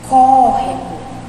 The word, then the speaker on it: córrego: Córrego. Olha aí, é o có, né? A gente fala córrego. Então, se o có é a sílaba mais forte, então significa que o